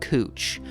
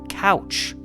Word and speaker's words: Couch: In fact, his name itself is something of a talking point in the city, as most outsiders would assume it's pronounced couch cuz that's how it's spelled, but it's actually cooch.